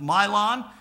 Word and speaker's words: Mahlon: Elimelech and Naomi, they left with two sons, Mahlon. No, it's M-A, but it's spelled M-Y is how it's pronounced. Mahlon and Chilion.